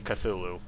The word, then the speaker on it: Cthulhu: line with your blood I haven't heard pronounced that way in years even though I think the correct one is actually Cthulhu lupino's notebook lay on